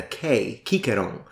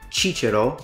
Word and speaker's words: Cicero: other languages for example in Greek the way they write Cicero they write it with a kikerong so that already gives us an idea that if the Roman pronounced it chicharo or Cicero or Cicero why did the Greeks use a k because they sounded that they heard the sound and they wrote it down in the letter that they would use